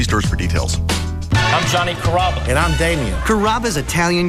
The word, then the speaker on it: Carrabba: Carrabba, Carababa, Caramba. It's a really easy name to pronounce. It's Carrabba.